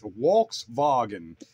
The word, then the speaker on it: Volkswagen: stands for the people's car yeah but it's pronounced WS vagen yeah you got it yeah there's a doui